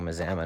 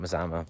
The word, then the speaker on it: Mazama: I guess I've been saying it wrong, Mazama, not Mazama.